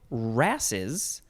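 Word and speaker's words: wrasses: Either of two rasses, that is spelled W-R-A-S-S-E-S, rasses.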